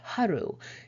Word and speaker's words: HRU: Of interest here is who or what is HRU, pronounced HRU.